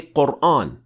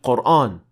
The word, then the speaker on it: Quran: the answer is no all the ten confirmed pronounce this word with an empty mouth alif so we know for